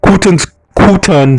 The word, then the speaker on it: Quton: Quton Smith, that's how you pronounce it, of Red Hassel Road, Port Antonio,